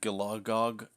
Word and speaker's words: Gilagog: So Gilagog, it sounds like there's a stutter in there, and you can feel it in your throat.